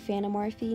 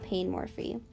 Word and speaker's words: panemorfi: Also, just to let you know, the species is pronounced like panemorfi, not painmorphy. Just so you know.